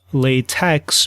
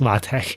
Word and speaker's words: LaTeX: And so it's not pronounced latex, but something like lat. And so now apparently based on the authors of this system it's pronounced latte.